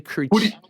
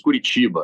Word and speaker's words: Curitiba: They say Curitiba. Like, listen, it's Curitiba. Yes. That's the way.